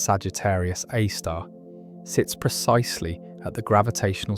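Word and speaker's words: Sagittarius A*: This black hole called Sagittarius A, pronounced Sagittarius A star, sits precisely at the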